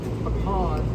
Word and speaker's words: pecan: Notice it's pralines, not pralines. Pecans, not pecans, right? That's how you pronounce it, okay?